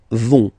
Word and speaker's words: vont: And the last persons, ils, elles, vont. Ils vont, elles vont. Okay, remember, final T not pronounced, so you get this ON nasal here.